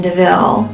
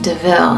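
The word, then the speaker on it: de Vil: karela her last name deville will eventually come from a car that they steal and horus thinks that it's called a devil and then jasper lets him know that it's pronounced deville and cruella likes this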